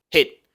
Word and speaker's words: hit: del inglés y luego la i corta del inglés inglés hit no es heit porque si decimos heit decimos calor calentar y se escribe con